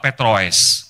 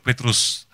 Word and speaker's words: Petroes: Kalau saya ngetik apa dan sebagainya, lalu admin di hotel atau apa bacanya, oh Bapak Petroes, gitu ya. Rasanya sakit hati, Petrus Bu, Petrus.